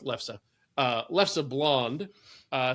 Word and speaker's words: Leffe: It's a it's called Leffe is the proper way to pronounce that. L E it's L E F F E but it's pronounced Leffe.